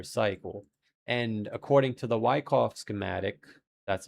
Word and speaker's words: Wyckoff: And according to the Wyckoff schematic, that's how it's said, it says we